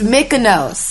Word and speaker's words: Mykonos: I'm choosing these right The Kaluna Day, my Kaluna Day is, how you pronounce it, even Mykonos? It's Mykonos.